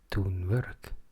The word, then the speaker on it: Tonverk: and perhaps even got a free Swedish pronunciation course with it called it tunber. One could also argue that because tone work seems to be a reference to the best German influential electronic um art project craft. That one could pronounce it ton.